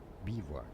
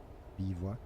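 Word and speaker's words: bivouac: Bewac, bewack. Encampment of soldiers. What? Bivwac is French. Bivwac. It's a French word.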